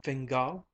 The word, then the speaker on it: Fingal: Camila fingal, said the other, looking up from her cup, her upper lip red and moist. She accented the surname on the last syllable.